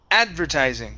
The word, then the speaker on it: advertising: uh let's try um advertising stress at the beginning advertising advertising okay all